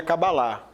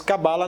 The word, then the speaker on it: Cabala: Então, as duas formas estão corretas, né? Vai depender de uma questão mais cultural, regional, né? A pronúncia, se for pelo hebraico, seria Cabalá, né? Mas Cabala não estaria incorreto, pois se tornou algo